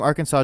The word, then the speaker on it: Arkansas: south wind in 1881 the pronunciation of Arkansas with the final s being silent was made official by an act of